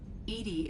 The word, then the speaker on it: EDI: why are you named Edie Edie is the phonetic pronunciation of EDI that is an acronym for enhanced defense intelligence where are you my